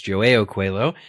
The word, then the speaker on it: João Coelho: It's a Portuguese name, but I did look up pronunciations. João Coelho.